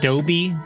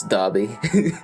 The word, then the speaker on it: Dobby: look at the picture of them is that Dopey is Dobby yeah are you sure are you sure that's how you pronounce it I always thought it was Dobby no Adobe sounds pretty funny it's Dobby well if he appears in the story I'm